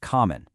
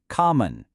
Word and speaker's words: common: The word common. We stress the first part. Come on. So, what do you think happens to that second O? Yep, you got it. It's in the unstressed part, so it gets lazy and becomes awah. Common.